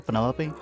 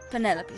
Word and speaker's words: Penelope: is that short for penelope officially yes but i never can be bothered with all four syllables of it penelope sounds a little ostentatious